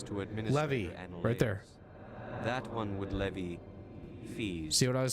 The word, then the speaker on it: Levy: It's not Levi chat. Is there anything else this one might help you with? You say le vi levy. It's not There's no I in my name.